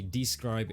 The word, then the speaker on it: Descript: And just for clarity, Describe is pronounced like D-S-C-R-Y-B.